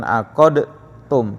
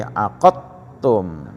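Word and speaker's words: عَقَّدْتُمْ: Mutajanisain mutajannisain bukan aq tum tapi aqattum di masuk ke ta ya. Heeh. Dal mati ketemu ta. Ba ya ba mati ketemu mim. Sama itu ya. Jadi dibacanya idgam ya.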